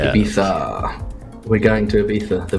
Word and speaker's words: Ibiza: Ibiza. Yeah. You got to say it with a lisp. It depends what Spanish you speak.